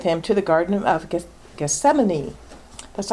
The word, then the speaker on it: Gethsemane: to the Garden of Gethsemane that's always a fun one to say because it's spelled differently than it sounds so in Matthew we read then Jesus came with them to a place called Gethsemane and said to the